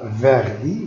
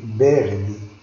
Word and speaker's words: verde: On ne dit pas verdi, mais verdi. Verdi. V, ça se prononce B.